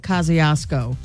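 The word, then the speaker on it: Kosciusko: But you pronounce it Kosciuszko.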